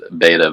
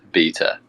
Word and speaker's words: beta: name is beta because the great debate between the uk and the us folks is beta versus beta so there we go